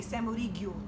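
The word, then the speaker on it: salmoriglio: But if you're Sicilian, they say samoriglio. It's a hard G. It's a lot. It's a lot of syllables. Yeah. Salmorillo, and it's meant as a topping.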